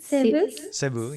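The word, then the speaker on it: Cebu: Sebu Sebu.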